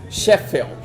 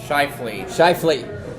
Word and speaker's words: Shifley: for roughing Winnipeg's Mark Sheffield. Shifley. You don't know how to pronounce names. That's Shifley? That's Shifley, yes.